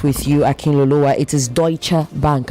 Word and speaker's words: Deutsche: It is Deutsche Bank, not Duchi. Deutsche. Okay. Deutsche Bank. It's a It's a German word. So you say Deutsche, not Duche.